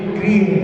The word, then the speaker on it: गृह: आप जिसमें निवास करते हैं, जिसमें बैठे हैं, वो जिन गृह है, गृह। तो गृह का उच्चारण और ग्रह के उच्चारण में अंतर है, उसके साथ में अपने यहाँ पर गृह का उच्चारण कर रहे हैं।